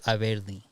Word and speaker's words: Averly: Well, technically, and everyone calls her but Averly, how does she say her right? She says it Averly. Like English. I heard them Dominican now. It's Averly.